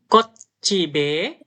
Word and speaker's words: 꽃집에: 사러 Kotcibe. 꽃집에 Kot jadi satu. Kotcibe. Gassemnida. Jadi bacanya yang B-nya ini ikut di sebelahnya. Makanya bacanya kotcibe.